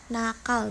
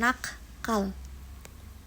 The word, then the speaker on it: nakal: namun perlu diperhatikan bahwa pemenggalan ini juga bergantung pada hembusan nafas saat pengucapan kata sehingga pemisahan yang benar adalah nakal bukan nakkal materi yang terakhir yaitu